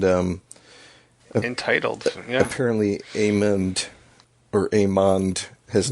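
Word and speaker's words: Aemond: then his younger brother Aman but they pronounce it amand with a d so I think IMDb has it wrong it does they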